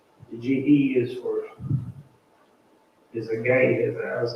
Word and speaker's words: Gehazi: I mean, sure, if anything, where it said GE, I would have like G Hezi or something, but it's supposed to be called a gay Hezi. The GE is a gay Hezi.